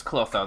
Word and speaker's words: Clotho: Okay, her name is Clotho, the one with the ponytail. Or she pronounced it Clotho, because I don't think they have a th sound in the Japanese language, naturally anyway.